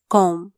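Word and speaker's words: comb: ए R where कोनो सी ओ एम बी कॉम बी साइलेंटचा सी ओ एम बी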